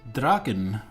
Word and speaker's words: Draugen: dream of a Blee is pronounced dragon which is a Norwegian folklore myth north myth I guess